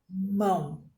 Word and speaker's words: limão: como está caro lhe limão limão é o que oxítona porque oxítona a sílaba tônica é a última e não palavra manteiga